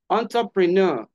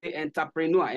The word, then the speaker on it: entrepreneur: embezzle EMZ emphasis emphasis entrepreneur entrepreneur this is not English this word is not English is French so it retain the pronunciation from its origin which is French so entrepreneur entrepreneur not